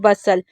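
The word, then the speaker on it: bustle: जैसे हम इसे क्या पढ़ रहे हैं, बसल, यहाँ पर टी नहीं पढ़ा जा रहा, ठीक है।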